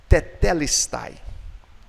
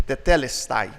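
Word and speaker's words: τετέλεσται: Na verdade, a gente traduz como está consumado, mas a palavra que ele pronunciou em grego é a palavra tetelestai.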